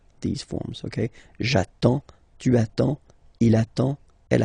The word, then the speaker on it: j'attends: So the first form will be j'attends. J'attends. Okay, you get D and S, well basically you don't pronounce them, okay, and then you get only the sound attends, nasal here, en, j'attends, okay.